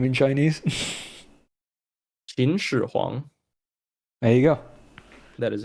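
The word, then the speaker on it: 秦始皇: This was mostly a joke, but how do you pronounce first emperor's name in Chinese? Qin Shi Huang.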